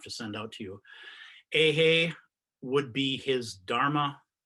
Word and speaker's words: Eihei: was kind enough to send out to you ahey would be his dharma name his buddhist name